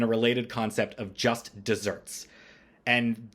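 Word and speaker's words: deserts: related concept of Just Desserts and dessert there is spelled like desert with One S but it is pronounced dessert like chocolate cake so make sure that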